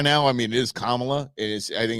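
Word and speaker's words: Kamala: it down by now I mean it is kamla and is I think it's pretty damn easy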